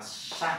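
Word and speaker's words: 山: Đây bạn đọc là san nhé.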